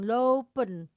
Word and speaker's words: lopen: Jadi pekannya mengerti kenapa di tulisnya dua bacanya panjang. Lopen slapen. Karena dia walaupun tidak ditulis di ya walaupun tidak ditulis di sini kita harus tahu rumus pembacanya lopen.